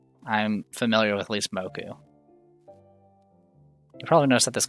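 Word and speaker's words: 木: I'm familiar with at least moku. You probably noticed that this kanji has a lot of pronunciations. There are 2 konyomi pronunciations, ki and ko, and 2 onyomi pronunciations, boku and moku.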